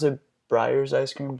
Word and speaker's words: Breyers: And with certain, how do you pronounce it? Breyers ice cream? Breyers, yeah.